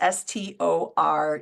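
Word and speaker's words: storge: friends um Aeros is romantic passionate physical love stor and that's s t o r GE but it's pronounced stor that's that family love that we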